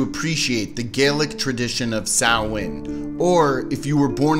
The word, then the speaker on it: Samhain: a fan of Ghostbusters, Samhain. Actually, the modern Irish name is pronounced Samhain, and in Scottish Gaelic as well, it is the Manx Gaelic pronunciation that is Samhain, a dialect of Geotic Celtic from the Isle of Man.